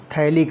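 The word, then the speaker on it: phthalic: इसमें जो है PH जो है साइलेंट होगा तो हम इसको जो है थैलिक एसिड कह रहे हैं।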